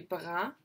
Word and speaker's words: brun: If I was male, I'd say je suis blanc, je suis blonde, et je suis brun, je suis brune.